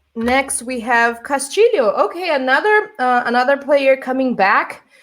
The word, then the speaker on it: Castillo: It's another name that is difficult to pronounce if you're not Portuguese or Spanish speaker. Castillo. Leo. It's this L sound. Not Castillo. No, not Castillo. Castillo. There you go.